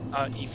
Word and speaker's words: Aoife: And we have $20 from Hollow Effie saying, I'm assuming that, how do you pronounce that? Aoife. Aoife, oh Aoife, that's right.